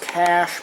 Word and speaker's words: cache: have actual real uh cash now technically it's pronounced cash but I prefer calling it cachet because there's absolutely no way that you can